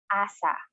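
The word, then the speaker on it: 朝: So morning in Japanese is asa.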